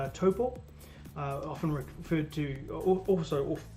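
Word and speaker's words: Taupō: but i grew up in a place called toppo uh often referred to also often pronounced as taupo which was which is right next to the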